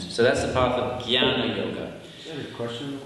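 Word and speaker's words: jñāna: as it's written and you pronounce it with a G Gana now if you want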